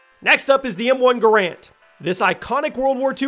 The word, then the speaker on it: Garand: Now, it's referred to as the M1 Garand, not Garand. I've been saying it wrong for years.